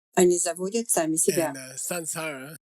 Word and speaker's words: samsara: So we should say samsara.